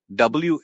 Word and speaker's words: whimsical: Whimsical. Pronounced whimsical. This one can be a little tricky because of the silent H after the W.